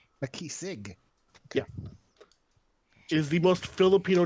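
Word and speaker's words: Makisig: my name is uh makisik um so out of character it is spelled m-a-k -i-s-i-g a key Sig yeah is the most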